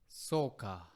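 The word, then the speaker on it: そうか: So the first one is Soka or Soka. So very similar sound. Soka or soka. Both are interchangeable.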